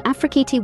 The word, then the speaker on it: Afrikiti: Hi, today I will be reporting on Afrikiti work from home jobs, business opportunities, affiliate programs, and more. Remember, Afrikiti is pronounced Afrikit.